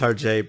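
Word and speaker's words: Hergé: package basically what the Alpha is exactly it's pronounced RJ but sure actually he's her oh it so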